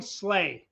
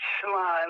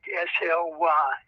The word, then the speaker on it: Sligh: his name is slay am i right no it's sly like l-i-g-h pronounced like s-l-y there it is sly